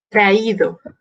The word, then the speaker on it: traído: Traído. Traer, traído. Ponemos el acento en la I.